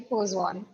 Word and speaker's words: Poisson: some people call it poon but it's actually poon and even I forget the pronunciation sometimes but I try to be true